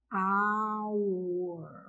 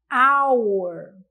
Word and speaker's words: hour: Hour. Ficaria com som de A. Hour, hour, hour. Então, nesse caso, o som da letra H é o quê? Ele é mudo.